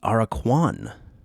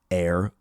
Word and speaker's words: Aracuan: The AIR-uh-kwan, pronounced AIR-u-kwan, AIR-uh-kwan. The what do they call that? The phonetic pronunciation of him is, his name is capital AIR dash U lowercase UH dash lowercase KWAN. The AIR-uh-kwan.